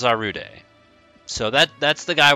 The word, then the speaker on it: Zarude: today we're looking at I think it's pronounced I actually haven't seen this film yet zarude cuz it's not zerude I don't think it's zerud it's one of the two zarude but I'm pretty sure it's zarude so that that's the